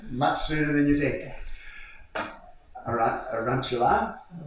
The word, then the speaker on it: Arunachala: Arunachala? Arunachala.